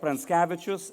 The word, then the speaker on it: Pranckevičius: If you look at Pranckevičius and you think of Prince of Cabbages and pronounce it quickly, you arrive at my name.